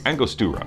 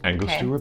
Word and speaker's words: Angostura: Oh, Angostura. Okay, bitters. Angostura bitters.